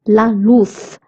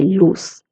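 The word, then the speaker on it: luz: And if you remember I told you zed is pronounced as the. So luth light. If you're in Latin America you can say loose.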